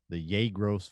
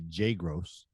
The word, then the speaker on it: Yegros: a family called the Yegros family, and most people would say Jagros or something like that, or they'd pronounce as J.